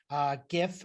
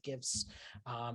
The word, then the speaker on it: GIF: be a png file gif i've used the hard g and uh or a